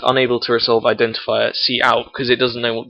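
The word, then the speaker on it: cout: the output we write C out and that is not pronounced count it's pronounced C out and then the Syntax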